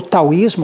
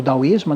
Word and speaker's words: taoísmo: O taoísmo, ou daoísmo, né, depende um pouco a pronúncia, porque o chinês ele vem sendo...